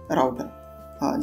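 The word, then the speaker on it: router: हमारे लिए यहां प राउटर जैसे कि इसके नाम से ही आप समझ स कोई लोग इसको रूटर भी प्रोनाउंस कर सकते हैं व भी सही है अगर आप इसमें देखोगे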